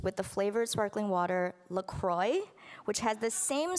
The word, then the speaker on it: LaCroix: the flavored sparkling water Lacroix which has the same spelling but because it's from Wisconsin the brand insists that it's pronounced Lacroix so that it rhymes with enjoy there are countless articles